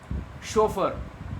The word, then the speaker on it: chauffeur: Chauffeur, a driver. Note the pronunciation is chauffeur, that is not chauffeur, that is chauffeur.